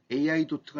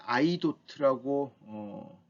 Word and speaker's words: 아이도트: 아이도트, 발음을 AI도트가 아닌 아이도트라고 발음하는 회사인데요.